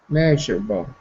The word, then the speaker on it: measurable: window phoh yeah Mis look at where the stress is the apostrophe is front of is in front of the m so that means the stress is on the first syllable me not able butal